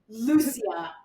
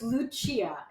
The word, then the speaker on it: Lucia: He kept calling her Lucia and it was like and then his people kept being like, "Can it's Luchia.